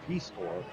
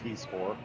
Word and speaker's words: Pecore: It's Hayden Pecore. So, my apologies for the misprononunciation early in the first period. It's Peacecore, Gayen Peaceore. So, the Warhounds will